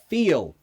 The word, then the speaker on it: feel: Fill and fill. Okay, the second two, fill like fill a glass, and the name Phil, exactly the same. Fill. And feel. Feel.